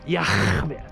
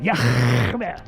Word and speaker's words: Yahweh: His name is Yahweh. That's how you pronounce it. Yahweh.